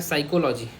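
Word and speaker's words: psycho: physics अलग हो जाएगा साइको या पी साइलेंट है बस इतना याद रखो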